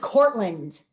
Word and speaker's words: Kortland: But whoo, if that laurel's there and their name is mispronounced, you see them, they're like, my name is Kortland.